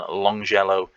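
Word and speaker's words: Longelo: higgins at orient and longjello at fairly sure that's pronounced with a soft g you would have thought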